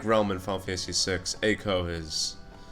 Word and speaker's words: Eiko: And apparently, like Realm in Final Fantasy VI, Eiko, I'm gonna call her Eiko. Some people call her Eiko, some people call her Eiko, because EI is any of those three pronunciations.